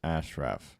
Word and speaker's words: Ashraf: It's pronounced Ashraf. Yeah, okay, so I said it right.